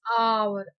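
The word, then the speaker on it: hour: The teacher has been teaching for dash dash आवर, आवर। जब हम आवर बोलते हैं, आवर ए से प्रोनंस स्पेलिंग तो एच से है, तो no doubt H इज नॉट a vowel.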